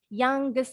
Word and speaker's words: youngest: Younger, bunyi G-nya jadi 2. Youngest sama bunyi G-nya ada 2. Kalau dalam bahasa Inggris nih, ada huruf NG kombinasi. Nanti bunyi NG-nya jadi double G-nya.